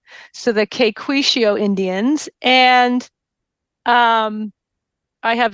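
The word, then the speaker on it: Caquetio: South America and are referred to as the Quishio, um, which is spelled C A Q U E T I O. So the Quicio Indians.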